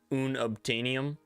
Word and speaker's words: unobtainium: What is the correct pronunciation of unobtainium?